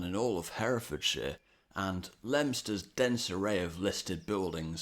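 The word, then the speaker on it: Leominster: Here's Lemster. Yes, that's right. The O, I and N are all silent. Why? I haven't the foggiest idea, but the train announcements on the way into Lemster will clue you into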